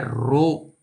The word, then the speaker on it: rho: पहले गया linear charge density lambda, surface charge density sigma, और वॉल्यूम चार्ज डेंसिटी का सिंबल है रो। ये सिंबल को हम पढ़ते हैं, प्रोनाउंस करते हैं रो।